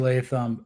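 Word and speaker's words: Latham: name Johnny is it leam yeah it's JC leam uh Blue Chip Prospect coming out you know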